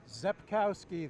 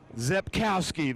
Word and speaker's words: Rzepkowski: Rzepkowski, the R is silent. Rzepkowski, the R is silent, so we're going to know that then when we're up in the booth.